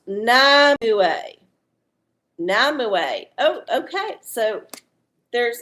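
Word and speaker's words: Nimue: Uh, Pronounced Namue.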